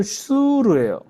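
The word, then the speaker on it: שור: 그니까 히브리어로는 슈르예요. 그리고 또 하나는 쭈르가 있습니다. 그래서 출애굽기에 수르의 수루와 민숙의 족장 쭈르는 발음만 비슷할뿐 전혀 다른 단어다라는 거예요.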